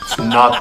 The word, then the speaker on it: knot: here come up and spell the word not k-n-o-t not spell the K say it like it's not there not the knot I